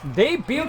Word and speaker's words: debut: But nevertheless, debut here for the certified 450 Lar. I'm receiving I'm receiving word in my in my headset here that there is no T pronounced in the word debut.